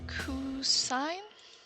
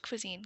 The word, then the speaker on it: cuisine: expert on coffee i'm a cafe blogger oh cousin uh it's pronounced cuisine kiana it means food i turned to my